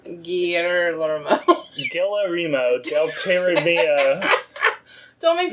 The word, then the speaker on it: Guillermo: Guillermo. You have to pronounce every single letter. Guillermo.